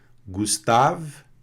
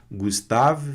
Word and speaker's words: Gustave: Gustave, né? Tem esse E aqui, o V vai ficar mudo aqui, sem o E. Gustave Flaubert.